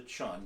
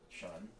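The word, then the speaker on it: cun: the width of the thumb it's called a chun it's spelled c-u-n or the between your distal and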